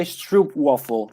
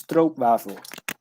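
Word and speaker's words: stroopwafel: oh no I'd say lots of people say Stroop waffle but it's throat waffle all right now that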